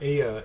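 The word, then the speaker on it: ella: keeping in mind that Aya is spelled with two L's which are pronounced in Spanish similar to a why in English so yes C no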